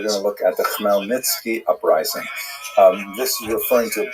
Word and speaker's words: Khmelnytsky: making it look something like Khmelnytsky. It's actually pronounced Khmelnytsky with a guttural at the beginning.